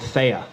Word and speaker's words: Theya: prop of Bitcoin um is a company called Thea um so it's spelled t h y a and this is